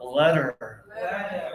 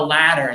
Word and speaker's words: letter: But this one, your teeth are basically together for letter. Yeah. So, close your teeth when you say letter. I think we should send a letter. I think that's better. Okay. A lot of students will say, I think we should sand a ladder. That's better. They open bigger because in the first